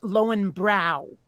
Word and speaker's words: Löwenbräu: the way actually you were close, but the way they pronounced it in Vermont was just Lowenbrow. Okay, okay, Yeah, right. Like you're lowering your brows.